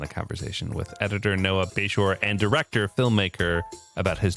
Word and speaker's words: Bashore: It's a Bashore, but I, for some reason, decided to put on my handles like with a Y so people knew how to pronounce it or whatever. So you didn't get called Bashore.